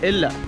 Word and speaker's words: Ella: Locals over here don't pronounce Ella, name of this town, as Ella. They call it Illa, and they also call it Ravanella.